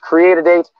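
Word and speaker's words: Cre8AD8: The company pronounced Create a Date had to hire people for every role needed to fulfill its $39.13 million contract.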